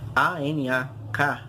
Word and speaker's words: Anak: O Encke Krakatoa, Ankh, na verdade, A-N-A-K, Ankh, Anak, na verdade, Anak Krakatoa, ou Ankh Krakatoa, depende da forma como você pronuncia, ele significa filho ou criança do Krakatoa.